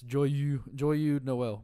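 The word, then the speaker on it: Joyeux Noël: No, that's spelled differently. Okay. It's Joyeux Noel.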